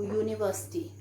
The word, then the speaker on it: university: So then one more example I can give you, university. So this is pronounced as U.